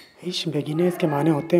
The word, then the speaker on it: Ich beginne: Spelling का ख्याल रखें। आगे बढ़ते। Ich beginne. इश बेगिने इसके माने होते हैं मैं इब्तिदा कर रहा हूँ या मैं शुरू कर रहा हूँ।